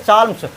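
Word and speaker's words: psalms: उसमें सभी लोग जो है भजन गाने लगे, जैसा कि इसमें दिया हाइम और साल्म, ये पी साइलेंट साल्म्स, भजन गाने लगे।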